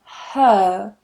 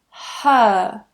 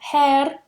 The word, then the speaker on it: her: But if you want that accent and you want to soften your own accent and sound a little bit more British, then removing that R is what you can